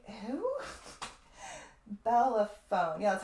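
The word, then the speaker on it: Bellerophon: Bellaphone.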